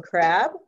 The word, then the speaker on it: Crabbe: I am going to introduce our two fabulous speakers, Nicole Hercules and Kim Crabbe. The E is silent, which I just learned, and I'm not going to ever forget that.